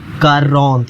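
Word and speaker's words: quarante: 40 is pronounce like कारोंत, ये इसकी spelling है कारोंत, ठीक है, कारोंत।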